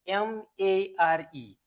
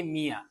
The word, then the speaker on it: mare: The word number one we can see here is M-A-R-E. This word is pronounced as mare. Don't say mere.